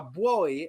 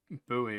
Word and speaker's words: buoy: I think Americans say buoy or something.